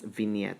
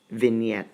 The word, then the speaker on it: vignette: vignette vignette yes yeah I think that's pronounced as vignette the vignette or vinaigrette that's vignette silent G you can thank me